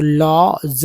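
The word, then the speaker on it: lodge: तो डब्ल्यू एल के walk है ना वॉक वॉक उसी तरह डी जी में डी जी में डी जो है साइलेंट हो जाता है और जी का उच्चारण होता है तो लॉ जज लॉज लॉ ज लॉज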